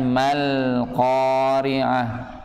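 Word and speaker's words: مَا الْقَارِعَة: Mal, alif lamnya perhatikan, mal qari'ah. Mal qari'ah ya, bacanya dengan bacaan sifat bainiyah, dialirkan namun alirannya tidak terlalu panjang. Mal qari'ah, jangan dibaca malqa.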